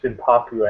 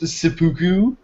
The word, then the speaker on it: seppuku: What if he loses in Worlds and then just commits Senpaku at the end? I'm pretty sure it's pronounced seppuku.